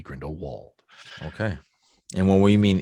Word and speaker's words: Grindelwald: it grindelwald or bald i think if you use the german pronunciation it's grindelwald the english pronunciation would be grindelwald okay and what we